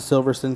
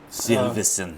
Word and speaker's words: Silverstone: got the british grand prix which is a silverson circuit silverson second it's spelled silverstone but the british say silverstone so